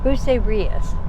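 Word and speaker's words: Bucerías: on our way to bucerrera bruce riaz bruce riaz is how you say it and um it's about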